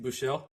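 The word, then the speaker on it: Buechele: Terms of players, we've got Kyle Allen, your guy, Shane, uh, is I always get this name wrong. Is it BU? Ball. Uh, Steve Buchelle.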